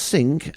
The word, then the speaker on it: Cinque: Whilst not wishing to assume any authority in the matter of pronunciation, Queen Elizabeth has a personal preference as sink being pronounced sink as in the kitchen sink rather than using the French pronunciation.